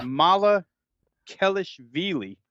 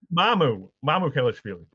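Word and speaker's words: Mamukelashvili: way I have it written down in 3 syllables here is Mala Kelishvili. It might be close, it might be wrong, but Mala Kelishvili. Was that right or wrong, Tony? Come on, Mia. Mamu Kelishvili.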